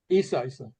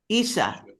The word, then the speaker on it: Yssah: Yssah. Yssah.